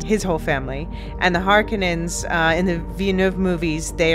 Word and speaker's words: Harkonnen: the two great houses, the Harkonnens, and yes, I'm using the more Finnish pronunciation now, thank you, Marilyn, and the Atreides.